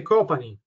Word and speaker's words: Copani: Benissimo, allora, come si suol dire, ultimo ma non ultimo, Giacomo Copani, corretta la pronuncia del cognome, vero Giacomo Copani? Sarebbe Copani. Ecco, perfetto, Copani.